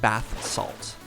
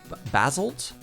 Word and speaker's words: basalt: It's not bath salt. Basalt? Because that's that beautiful new...